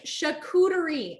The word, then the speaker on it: charcuterie: what does that say how do you pronounce pronounce that it's chicootery i know chicouteri boards